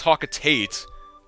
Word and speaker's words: Hocotate: I always pronounce hwat wrong I know it's pronounced hocotate but that's the way people want it to